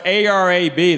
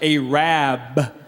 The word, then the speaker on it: Arab: who's minding the store let tell about aab it's spelled a r a b they don't pronounce it Arab they pronounce it aab cuz the original name was aad but they